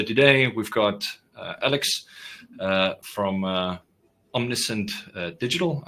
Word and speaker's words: Omniscient Digital: So today we've got Alex from Omniscient Digital. I pronounced that correctly, right? Yes, Omniscient Digital.